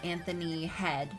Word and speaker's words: Anthony Head: Erica says Anthony Head, pronounced like the body part, played Giles in Buffy.